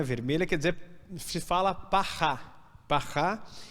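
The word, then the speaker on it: פרה: A palavra quer dizer novilha ou vaca, né, vermelha, quer dizer, se fala parrá, e cinzas, né, essa cinza se fala afal.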